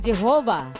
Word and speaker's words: Jehovah: While inclining to view the pronunciation Yahweh as the more correct way, we have retained the form Jehovah because of people's familiarity with it since the 14th century.